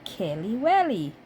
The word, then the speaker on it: Kelewele: how I fry my Kelly well Kelly well yes so my hair is hot to put in my Kelly well so the guys the pron the proper pronunciation is Kelly Willie Kelly will so so